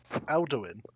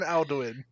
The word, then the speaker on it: Alduin: ] dragon from skyrim mate well that's how it's spelled it l doing not al doing alduin yes i'm saying i'll do it i know